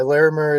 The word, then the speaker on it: Larimer: Uh the street was called Larimer? Is is that how you pronounce it or Yeah, Larimer.